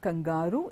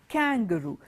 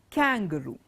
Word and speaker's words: kangaroo: It's not kangaroo, it is kangaroo. The stress does not fall on the word kangaroo. It's not on G-A-R. It's kangaroo.